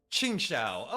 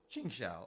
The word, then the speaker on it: Qingxiao: Chingsha. Okay. Chingsha. I finally pronounce.